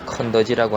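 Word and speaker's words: 肯德基: KFC라고 그냥 짧게 축약해서 쓰는데, 여기도 이제 켄터키 프라이드 치킨에서 다 빼고 그냥 앞에 켄터키만 따와서요, 켄터키 그 지역 이름, 그 이름을 컨더지라고 하는데요.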